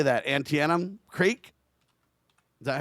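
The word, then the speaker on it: Antietam: Antennum Creek. Is that how you say it? Antidum.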